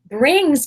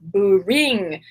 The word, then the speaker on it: bring: Brings can be a challenging word to pronounce in English. It has the B and the R next to each other. And some people want to add sounds like bing. It's not bing, it's bring. Bring. Bring.